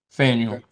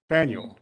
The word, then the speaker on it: Faneuil: Is it Faneuil? Faneuil. Faneuil. Okay, Yes, thank you.